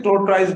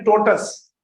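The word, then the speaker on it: tortoise: पढ़ाने के बाद हम क्या, आपको ये पता है ना, जिसको आप पढ़ते कहते हैं टोर्टोइज, पता नहीं क्या, इसकी सही प्रोनाउंसिएशन ये TOR TOISE, इसकी सही प्रोनाउंसिएशन है टोटस।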